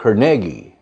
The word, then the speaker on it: Carnegie: Andrew Carnegie라고 발음합니다. 우리 카네기라고 그러죠. 두 번째 음절에 스트레스가 있어요. Carnegie.